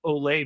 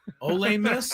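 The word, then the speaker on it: Ole Miss: many call it you think how many people do you think it's pronounced olay miss o miss I don't think anybody most of our fans below the border think it's o miss all of them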